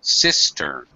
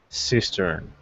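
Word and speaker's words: cistern: and by the way pronunciation first syllable stress sistern sistern yeah what is a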